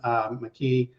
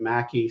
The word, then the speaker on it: McKey: in any event yes my name is mckee um my dad pronounced it mackie so you might hear it either way but in any event